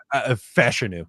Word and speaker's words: Fashanu: I always say the last name wrong. For some reason, I just can't say Fashanu. Is that how you say it? Fashanu, apparently. Fashanu.